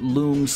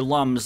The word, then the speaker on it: Lums: I always pronounced it looms as in illuminate. You guys are making me say many funny things tonight, and I refuse to call them looms. They're lums like lumberries.